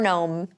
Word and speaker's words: gnome: a home for our gnome a gnome home genome good gnome is there anything else or the silent G uh there's a comb